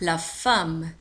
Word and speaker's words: femme: Avec deux M. M, M, E. تنطق la femme.